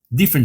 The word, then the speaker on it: different: Different size. Esse T final de different, você pode não pronunciar different size.